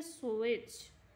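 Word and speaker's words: switch: ई छ, ठीक है, स्विच स्विच ऐसे पढ़ रहे हैं ना हम लोग, टी का जो साउंड है वो साइलेंट रख रहे हैं, तो इसमें टी जो है वो साइलेंट है।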